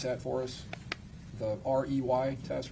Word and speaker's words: Rey: There's also a visual spatial ability test and I'm going to have you exp explain or pronounce that for us. The rey test. Ray, the ray ostrich complex figure test.